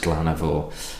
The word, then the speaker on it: Glann Ar Mor: Glann Ar Mor, I really hope it's pronounced Glann Ar Mor.